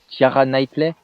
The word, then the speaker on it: Keira Knightley: Je me souviens qu'à l'époque, je trouvais Keira Knightley, c'est comme ça qu'on prononce, je la trouvais juste Je sais pas.